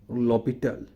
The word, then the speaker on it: L'Hôpital: o s p i t a l is pronounced as lopital the rule is named after the 17th century